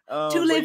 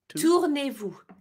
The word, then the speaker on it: Tournez-vous: Tournez-vous. Tournez-vous. Yeah. Tournez-vous. You just had the first part. Tour and then nez-vous.